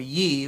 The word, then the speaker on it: ye: share for the unenlightened the old English writing of ye was actually pronounced the same way that as we'd say whatever it was today Ye Old Pub would still be read loud as the old Pub guaranteed once I seal